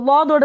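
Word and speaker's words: ض: இப்போ லாதோட உச்சரிப்பாருங்க, இப்போ பாருங்கள் லாதோட உச்சரிப்பு எப்படி, இங்கே பாருங்கள், நாக்கு இருக்கா, நாக்கோட லெஃப்ட் சைடு இது, இந்த லெஃப்ட் சைடு இந்த இந்த ஓரத்தை எடுத்துகிட்டு போய் கடாப்பல் இருக்கு இல்லையா, இந்த லெஃப்ட் சைடில் மேல் கடாப்பல், இந்த கடாப்பலோடைய ஓரத்தில் போய் டச் பண்ணணும்.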